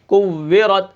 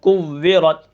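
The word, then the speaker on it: كُوِّرَتْ: کلمہ ہے وہ ہے کوّرت. تو کوّرت کے ہجے کس طرح ہوں گے؟ اس کو ہم کس طرح پڑھیں گے؟ کاف واو پیش کو واو زیر وی کوّی رات زبرت کوّرت وقفاً کوّرت. ٹھیک ہے، اس کے بعد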